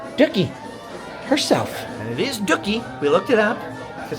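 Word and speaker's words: Dooky: here Leah Chase dockie herself and it is doie we looked it up cuz I didn't want to call somebody dookie but that was not the correct pronunciation as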